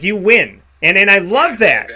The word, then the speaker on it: Euan: but the fact that your name is spelled e-u-a-n but it's pronounced you win like you win and then i love